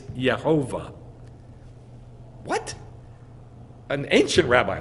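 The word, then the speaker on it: יהוה: Yod on top and a Shva underneath. And guess how they're written? Yeah. Yeh-shua. Yeh-ho-vah. Yeh-who. Hundreds of them. So it's Yeh-ho-vah.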